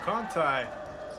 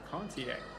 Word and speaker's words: Contier: Conti for 2. I believe, actually, I mispronounced that. Contier.